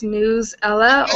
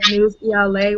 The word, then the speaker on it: Newsela: So the tool I'll be discussing today is Newsela or Newsela, whichever way you want to pronounce it.